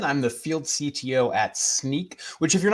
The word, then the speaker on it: Snyk: I'm the field CTO at Sneak, which if you're not familiar is pronounced like a pair of sneakers or sneaking around.